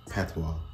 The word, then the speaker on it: patois: French yeah cuz the word p how you pronounce it P is actually French pwa yeah pwa we so so we say it like p